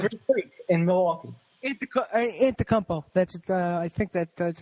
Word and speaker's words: Antetokounmpo: Antetokounmpo. I think that's how you pronounce it.